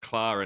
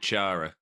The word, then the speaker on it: Chara: But moving on to, I think, is it Clara next? Got the name wrong. Is it Chara?